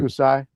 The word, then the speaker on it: Hokusai: Akusai Hako- Hakosai? Am I pronouncing that right? Hakasi? Miss Hakasi? Hokusai.